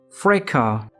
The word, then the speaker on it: fracas: Fracas has 2 syllables, and in British English we pronounce it as fracas, fracas, fracas.